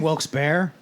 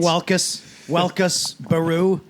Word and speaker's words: Wilkes-Barre: You mean Wilkes-Barre? Jesus How Christ, are they Bob. pronouncing that? Right. You mean Welkus, Baru?